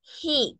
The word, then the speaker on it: he: no es y es he con j Hi porque la h en el inglés si se pronuncia entonces he es el